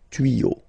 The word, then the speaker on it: tuyaux: Same rule. You don't pronounce it. Des tuyaux.